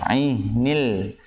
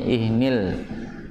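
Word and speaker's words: العهن: Ya, ainil. Ha termasuk yang punya sifat tabainiyah atau tawasud ya. Jadi dialirkan ainil. Coba jangan ihnil ya. Ini sering dengarnya bacanya ihnil dengan bacaan hamzah bukan ain.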